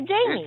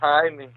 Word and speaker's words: Jaime: I was just going to say Jamie. It's Jaime.